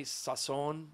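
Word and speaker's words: sazón: telling them about my sazon. Yeah. You know, my how do you say sazon in English? I have no idea. Saison? Sazon. Sazon is like saison.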